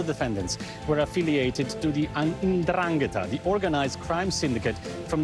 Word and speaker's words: 'Ndrangheta: Now, all the defendants were affiliated to the 'Ndrangheta, the organized crime syndicate from the southern region of Calabria. This is how you pronounce it, actually.